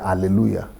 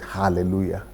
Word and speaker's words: hallelujah: I used to pronounce it hallelujah. But there is a difference. What's the right pronunciation? The right pronunciation is hallelujah.